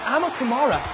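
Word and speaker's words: Amukamara: Landry Jones filling in for the injured Sam Bradford is picked off by Nebraska's Prince Amakamara.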